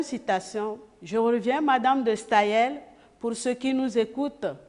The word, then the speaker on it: Staël: et une deuxième citation je reviens madame de staillet pour ce qui nous écoutent pour les auditeurs Staël s'écrit S t a e tréma je reprends spae tréma l madame de Stayen Germaine de Staël la littérature et l'expression de